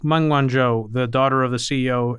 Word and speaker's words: Meng Wanzhou: There was one episode that we did with, how do you pronounce her name? Meng Wanzhou? Meng Wanzhou. Meng Wanzhou, the daughter of the CEO and founder of Huawei.